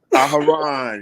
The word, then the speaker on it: Aharon: Aharon, yeah, Aaron. It's Aaron, but in the Hebrew it's Aharon. But yeah, shalom to the panel.